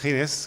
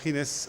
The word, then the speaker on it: Ginés: En fait, Ginès est un prénom espagnol qu'on prononce Ginés comme en fait. Comme, exactement. Et donc c'est Ginés.